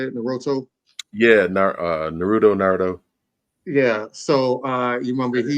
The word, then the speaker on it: Naruto: Yeah, Naruto.